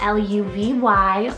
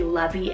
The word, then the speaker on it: Luvy: We have Luvy, spelled L-U-V-Y, Luvy. Now it could, I guess, technically be Lovey as well, but Luvy is the correct pronunciation, and it's a Latin rooted name meaning light or light bringer.